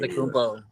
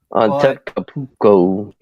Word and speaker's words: Antetokounmpo: now, what's his face and I can never pronounce his Giannis damn name. Antetokounmpo. There you go, Giannis. Just gonna say I'm a Giannis. big fan of him. Antetokounmpo.